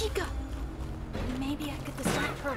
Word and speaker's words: Chica: Why did I say it like that? Chica. It's Chica.